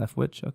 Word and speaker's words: Leftwich: Leftwich?